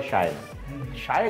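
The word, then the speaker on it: Shae Gill: किस तरह से अदा करना है, किस अब मैं इसको शिया शिया बोल रहा हूँ कल से। हाँ शाह है, शिया है, SHEA। शायगिल, मेरे ख्याल में वो अपने नाम को ऐसे शायगिल। प्रोनाउंस करती हैं, शायगिल।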